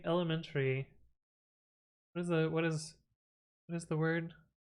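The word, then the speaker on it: ElementTree: I'm thinking you're pronouncing elementary. What is the word? Element tree.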